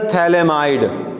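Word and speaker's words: phthalimide: यह जो आपके गैब्रियल थैलिडोमाइड इसमें जो यह पीस है साइलेंट है जैसे निमोनिया में होता है तो यह गैबरियल थैलिडोमाइड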